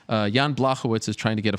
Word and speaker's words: Blachowicz: Is it, now tell me if I'm right or wrong, Blachowicz? Yes, almost perfect. Almost perfect. Blachowicz. Blachowicz. Yes, now it's good.